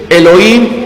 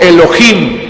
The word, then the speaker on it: Elohim: es el nombre eloy el login o elohim hay quien lo pronuncia como el login hay quien la pronuncia como elohim y voy a pedirles